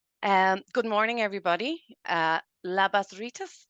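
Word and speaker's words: labas rytas: good morning everybody uh labas Rus I hope I have that right um that is um what I've been told is the way to pronounce it if I have it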